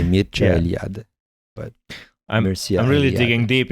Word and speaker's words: Mircea Eliade: And Mircea Eliade is actually Romanian originally.